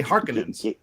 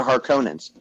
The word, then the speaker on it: Harkonnen: their name the harkonnens see you say hearkening they have the heart the harkonnens they're they should be because it's got two ends and they were saying